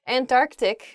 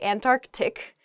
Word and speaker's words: Antarctic: really oh I guess when you're saying this word quickly you might leave out that first C in the Antarctic so don't say that don't do that say Antarctic the the very very